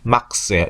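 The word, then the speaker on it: Max: 막시밀리안이라는 이름을 줄여서 보통 막스라고 쓰는데 막스예요. 이름이 맥스 아닙니다. 막스입니다. 독일어기 때문에.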